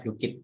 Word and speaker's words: Blooket: Kita bacanya Bluekit Bapak Ibu.